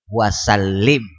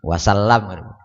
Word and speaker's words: wasallim: Nah, ini dikeraskan bacanya, wa sallallahu ala sayyidina Muhammad nabil ummi wa ala alihi wa sahbihi wasallim. Jangan wasallam. Nah, kada boleh kena pulang kena wasallim nyapu muha, kada usah.